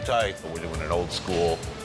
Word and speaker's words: charcuterie: How do you pronounce that one? Charcuterie? Charcuterie.